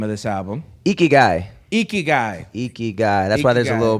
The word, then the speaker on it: IKIGAI: IKIGAI. That's why there's a little pronunciation clarification. IKIGAI.